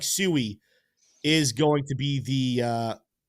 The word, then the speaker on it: Sui: It very much, T-Shroom, looks like Sui is going to be the ongoing pronunciation of this Litecoin. 71% saying Sui, only 29% saying Sui.